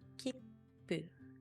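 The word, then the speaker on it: きっぷ: When you see small tsu, you don't pronounce it as tsu. Instead, you treat it as a very brief pause before pronouncing the consonant. So, kipu, kipu.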